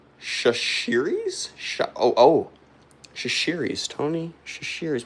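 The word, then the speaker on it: Chachere's: Cooper Baseball says it's pronounced Shashiris.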